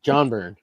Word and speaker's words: Byrne: Yeah, John Byrne. Yeah. Yeah, that's the good burn. The G is silent.